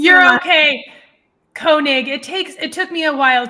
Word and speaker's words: Koenig: Koenig. His name? How do you say You're that? Okay. Koenig.